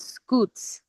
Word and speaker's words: scutes: These are called scutes. Now the scutes Scoots.